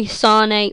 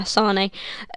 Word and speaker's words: Sané: Next up, we've got none other than Leroy Sané, or I think that's how you pronounce it, yeah, Sané.